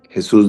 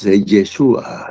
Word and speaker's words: Yeshua: es conocido universalmente como Jesús de Nazaret en nuestra lengua con lo que no no se dice Jesús, es Yeshua Yamashia.